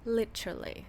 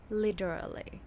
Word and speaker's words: literally: แบบ นี้ เลย ค่ะ literally or literally ถ้า เรา ดู ตาม เนี่ย มัน จะ มี 4 พยางค์ ใช่ มย แต่ เพื่อ ความ ง่าย ให้ มัน ง่าย ขึ้น ขอ รวบ เหลือ แค่